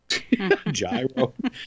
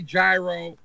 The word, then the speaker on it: gyro: You're Greek, for God's sake. Say it correctly. Gyro, for God's sakes. Gyro. People in Reno who are driving, who are as white can be, are going, what the hell's a gyro? It's gyro.